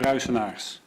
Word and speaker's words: Ruijsenaars: How do I say your last name? It's Ruijsenaars. Probably only one person in the room who can pronounce that.